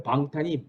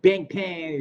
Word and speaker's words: 방탄: 왜 방탄이 bangtan 있어? The exact pronunciation is 방탄, but most of the foreigners pronounce bangtan, right?